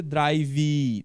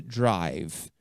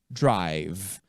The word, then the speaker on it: drive: Observe que letra E final não vai aparecer na hora de pronunciar. Nunca vai ser drive, não. Vai ser drive, drive.